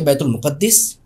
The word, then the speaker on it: بیت المقدس: है किताबों के अंदर कि बैतुल मुकद्दस बैतुल मुकद्दस और बैतुल मकद तीनों तरह प्रोनाउंस कर सकते हैं तीनों तलफ्फुज है इस जगह के अच्छा बैतुल मुकद्दस ये